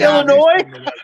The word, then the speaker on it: Illinois: I just know they're Illinois oh it's Illinois yeah oh I'm sorry you guys I forgot the silent s what city do you